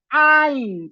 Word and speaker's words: ein: que vamos a pronunciar siempre que nos encontremos a una e y a una i, porque no suena e, suena. Por eso el número uno es ein asins y no a el número uno.